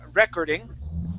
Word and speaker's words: recording: Okay, so instead of saying recording, okay, the word is recording with the accent in the middle.